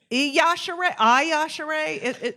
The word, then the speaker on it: Yashere: It's Yashere. So the I is almost silent. Okay. So it's spelled Iyashe, but it's Yashere. So it's Yashere.